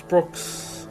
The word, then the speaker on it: Broxh: It's the correct way to pronounce Brox. I just done it. Brox, huh? No, the H is just there to fill out because the OG, or the name without the underscores taken.